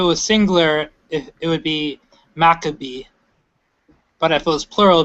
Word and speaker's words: Maccabees: So you would say, I guess, for lack of a better term, you say Maccabees, but it's really Maccabee, and in plural it's Maccabeem.